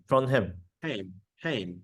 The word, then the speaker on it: Trondheim: You can divide it in two. Trond, Uh-huh. Uh-huh. you know Trond, Trond? and Heim, Trondheim. Yeah, Trondheim.